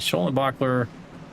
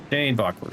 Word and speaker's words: Dane Bachler: So I've been pronouncing John Dane Bachler's name wrong this entire time. He let me know today that he pronounces his last name as Dane Bachler.